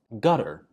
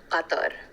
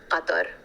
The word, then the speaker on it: Qatar: I would pronounce it Qatar. So the Q is like a qa. It's like you have to say it from your throat.